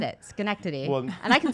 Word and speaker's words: Schenectady: Schenectady. And I said it, Schenectady. Well, and I can spell it too.